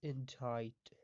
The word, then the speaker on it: indict: in tight a ndic it is pronounced as injight verb effect law code